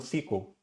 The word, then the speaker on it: SQL: banco de dados no SQL em inglês é no sequel, né, que é o a pronúncia, aliás, para quem não sabe, né, SQL em inglês pron?